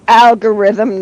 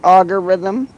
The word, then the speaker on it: algorithm: And it's algorithm, not agurithm. It is auggurithm. I can't help it. You guys can't say it correctly. It doesn't have a U in it.